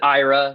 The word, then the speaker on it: IRA: if I'm five and yes we pronounce it Ira that is important to know um to have no